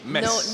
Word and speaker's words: Metz: He's originally from Metz, and he wanted Metz. You don't pronounce a T. Mess. No T. No, it's like mess. A big mess.